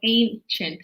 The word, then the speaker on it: ancient: So the C has a ch sound. So ancient.